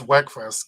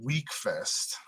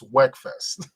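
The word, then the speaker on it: Wekfest: don't even know um i think it's weckfest because there's only one e so why would you call it week fest it's not w-e-e-k it's w-e-k so that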